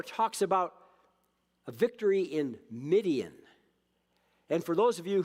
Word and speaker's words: Midian: And for those of you who think this sounds familiar, you can think of a name that rhymes with Midian to know what that's all about. And the name is Gideon.